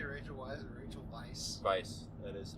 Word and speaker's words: Weisz: Well, she's English, but the name Weisz is German.